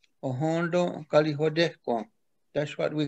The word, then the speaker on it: Ohenten Kariwatekwen: Actually, Thanksgiving address isn't really the proper way to say what we're talking about. In the Mohawk language, we call it Ohondo Galihodehko. Ohondo Galihodehko.